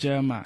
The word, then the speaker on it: Jeremih: uh no a still for the non pronouncers Miss spellers okay uh it's just Jeremiah so I got you